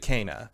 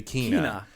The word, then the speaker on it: Kena: Kina, however you want to say it. In the game, they say it like 3 different ways. By the way, the game says it multiple different ways. She says it Kana. Yep. The little kids you meet early on say Kina.